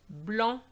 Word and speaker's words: blanc: Now words ending with a C, silent, banc, which is a bench, blanc, tabac.